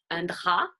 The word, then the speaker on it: drap: So the P, generally silent. Un drap, a sheet. Beaucoup, a lot.